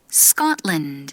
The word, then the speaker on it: Scotland: Scotland. 이것도 우리는 스코틀랜드 다섯 음절이지만 Scotland 거의 두 박자 안에 끝납니다.